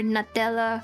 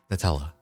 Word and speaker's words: Nutella: went to Singapore, there was a phase where all of their desserts were Nutella flavored, and then the thing is, we eventually got so sick of it.